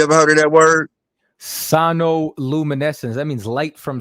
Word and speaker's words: sonoluminescence: I want to make sure I'm pronouncing it right. It's called sinoluminescence. Hold on. Sinoluminescence. Have you ever heard of that word? Sonoluminescence.